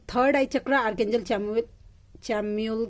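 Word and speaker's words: Chamuel: Third चक्रा आर्कएंजल चैम्यूल, जानते हैं ये चैम्यूल बोलना मेरी दी ने मुझे सिखाया है। ठीक है, मुझे प्रोनाउंसिएशन में पहले इसको पढ़ती थी सैमुअल वैसा। ठीक है, फिर उन्होंने मुझे मैसेज किया नो नीतू इसको पढ़ते हैं चैम्यूल वैसा, फिर मैंने बोलना स्टार्ट किया चैम्यूल।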